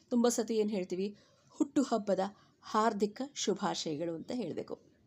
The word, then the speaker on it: ಹಾರ್ದಿಕ: ನೀವು ಆರ್ಥಿಕ ಶುಭಾಶಯಗಳು ಅಂದರೆ ತಪ್ಪು, ಹಾರ್ದಿಕ ಶುಭಾಶಯಗಳು ಅಂದರೂ ತಪ್ಪು, ಹಾರ್ದಿಕ ಶುಭಾಶಯಗಳು ಅಂದರೂ ಕೂಡ ತಪ್ಪು. ಸರಿಯಾದ ಕ್ರಮ ಹಾರ್ದಿಕ ಶುಭಾಶಯಗಳು.